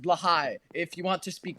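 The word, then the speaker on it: Blåhaj: Actually, technically, it's pronounced Blahai.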